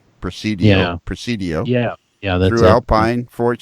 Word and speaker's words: Presidio: El Pais out of Alpine there's a Mexican pronunciation proceed yeah Presidio yeah yeah there's Alpine Fort Stockton in dis